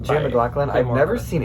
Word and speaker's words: McLaughlin: I always thought it was Jay McLaughlin.